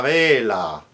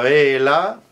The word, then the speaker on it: vela: La vaca, la vela, la bella. One spelled with a V, the other one with a B. La bella, long B, la vela, V as in Victor, both pronounced la ve, ave.